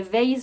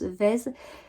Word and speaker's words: Vaise: chili days vaise vaise je l'appelle valise mais on m'a dit non c'est ça se prononce vaise et alors pour faire